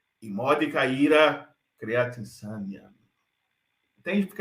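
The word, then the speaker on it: immodica: Aqui, essa palavra imódica, perceba que eu estou lendo imódica e não imodica, porque o DI, a penúltima sílaba, o di, ele tem breve, o que faz com que a acentuação fique proparoxítona.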